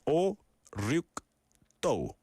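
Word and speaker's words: 오륙도: 발음 제대로 하면 5, 6도.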